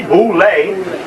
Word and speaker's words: Boule: Known as Boule, pronounced Boule. The group is here. You see, Boule, B-O-U-L-E.